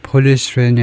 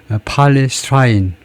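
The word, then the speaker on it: polystyrene: 아 폴리스트 쏘리 폴리스트이 발음을 찾아보니까 폴리스트레인이 아니고 폴리스트라인 아 그 엑센트 표시가 여러 가지 방법이 있는데요.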